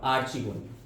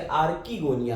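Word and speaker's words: archegonia: कौन, आर्चिगोनिया, female reproductive structure आर्चिगोनिया, या कुछ लोग इसे आर्किगोनिया भी बोलते हैं, तो अलग अलग प्रोनाउंसिएशन है।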